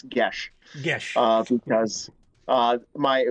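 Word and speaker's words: geas: do they get that i'm pretty sure it's gaelic or irish in nature and so it doesn't look like it's pronounced the word we're talking about for everyone in james g-e-a-s looks like ghees like peas peas and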